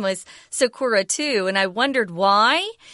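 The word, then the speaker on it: さくら: But I did want to also say that I guess if you're using English pronunciation, you'll pronounce this word as Sakura. And I think in Japanese, it's more like Sakura or something like that.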